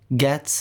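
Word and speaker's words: Ghetts: actually um which is called conflict of interest gets is spelled g-h-e-w-t-s and that's definitely an album you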